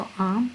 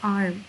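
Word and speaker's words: arm: आर को मैं ज़्यादा प्रोनाउंस नहीं कर रही क्योंकि मैं ब्रिटिश यूज़ कर रही हूँ, तो आर्म। अगर आपने इसको थोड़ा सा प्रोनाउंस करना है जैसे आर्म, तो ये हमारे पास अमेरिकन प्रोनाउंसिएशन में चला जाता है।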